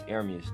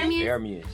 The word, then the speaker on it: Ermius: It's Ermius, though. That's how you say it. Oh, that's how you say it? Ermius, yeah.